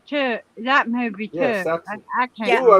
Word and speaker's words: Saxon: Yeah, Saxon. I can't. Yeah. Ooh, I was saying his Yeah. name wrong. I kept adding a T to it. It's John Saxon.